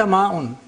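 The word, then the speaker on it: ماء: For example, ma'un. In normal Arabic we say ma'un. But in the Quranic Arabic we say ma'un. Either four vowels or six vowels. Ma'un. Ja'a. And that is to bring out the Hamza, otherwise the Hamza will get lost.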